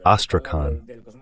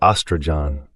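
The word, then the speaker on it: Астрахань: sense of Kapustin Yar, is Astrakhan, or Astrajan, depending on how you pronounce it.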